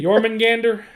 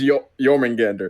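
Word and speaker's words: Jörmungandr: can say it properly was it jorman Gander it was yourmen Gander German Gander okay I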